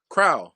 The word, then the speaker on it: Crowelle: Crowell, like towel.